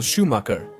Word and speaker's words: Schumacher: In this case, it's Michael Schumacher, although the correct pronunciation is Michael Schumacher, a pilot born in